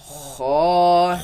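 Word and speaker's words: خاء: Let's pronounce it. Kha, Kha, kha, kha, kha, kha, kha.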